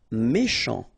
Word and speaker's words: méchant: Méchant. Final T not pronounced. Then C-H, sh, chant, méchant.